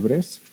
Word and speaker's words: Bresse: De Bresset también le puedes decir. Bresset es en francés, entonces no se pronuncia la E, se dice ecuación de Bress.